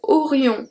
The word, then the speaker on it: aurions: So aurions, we don't pronounce the S.